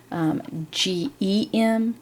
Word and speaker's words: gem: the soft sound in so at the gym we've talked about how GE m and g ym are the soft g because it sounds like a J just gem so that G is